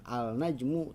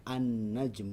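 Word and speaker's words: النجم: jadi kita membacanya bukan alna jenguk tapi kita membacanya an-najm uh Ya silakan hai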